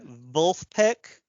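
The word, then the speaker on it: Vulfpeck: all right fair enough it's uh the the vul peek that's that's spelled v is in Victor U LF p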